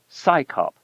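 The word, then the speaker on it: CSICOP: Its initials CS O P are pronounced as the acronym SCYOP, as if it's an organization of scientists performing a police function.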